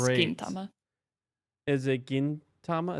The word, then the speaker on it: Gintama: Is it Gintama? Is that how you pronounce it? Yeah, because it's like Gin for gold.